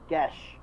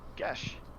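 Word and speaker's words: geas: The hard G, pronounced gesh, with a hard G and an E like the word bed. It's an old Gaelic. Ah, Gesh.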